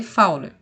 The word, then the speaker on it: Fowler: de fowler tá bom se escreve fully mas a gente lê fauna tá quando paciente para